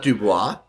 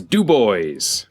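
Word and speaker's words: DuBois: reference to dubbys Pennsylvania it's not Duo it's dub boys Pennsylvania okay it's on 80 like on the way it's like past penate actually and that's how they pronounce it it's how you pronounce it it's actually you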